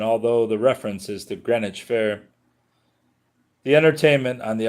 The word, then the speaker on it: Greenwich: In Greenwich, England, the name is pronounced Greenwich.